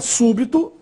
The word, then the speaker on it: súbito: E a última, súbito, aí a sílaba tônica é a antepenúltima, su, e também recebe acento agudo no U, súbito.